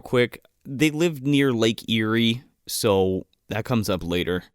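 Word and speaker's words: Éire: a funny connotation because there's a place in Ireland called Erie, but that's not how it's pronounced. But it's pronounced Erie. Erie.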